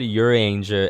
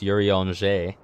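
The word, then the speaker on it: Urianger: Like one of the scions was called um your I I said your angel and it's actually pronounced Yurion.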